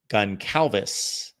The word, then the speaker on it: Goncalves: Matt Goncalves is how you pronounce his last name, is a tackle out of Pitt.